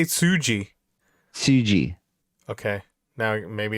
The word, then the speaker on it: Tsuji: we're having about this gabriel kid versus yota tsuji okay go ahead no uh it was actually yota sushi yota okay hold on i want you to hear me yota tucci nope sushi i didn't what sushi say it